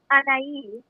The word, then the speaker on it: Anahi: Anahi? Anai.